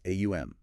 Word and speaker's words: om: So om isn't just one sound. Traditionally, it's aum followed by silence or the resonance, the sustained low tones, the way the sound moves through the body.